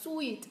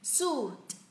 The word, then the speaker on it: suit: Cái từ mà tom lê ấy, bộ tom lê ấy, có rất là nhiều bạn đọc sweet, đọc theo kiểu tiếng Việt là ui ui xong rồi tờ sweet là sai nhá. Nào, u, suit, suit, suit, suit.